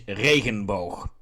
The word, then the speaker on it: Regenboog: The German pronunciation is Regenbogen. The Dutch pronunciation is Regenboog.